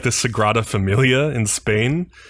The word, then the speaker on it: Sagrada: workers like makes a point of saying it's pronounced Sagrada not Sakurada and I was like come on that has